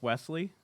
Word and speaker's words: Wesley: Wait, is it pronounced Wesley? Yes. I've been calling it Weasley this whole time.